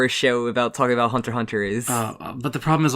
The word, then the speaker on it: Hunter x Hunter: a huge fan of Hunter hunter and yeah you don't pronounce X that's the big thing I only have little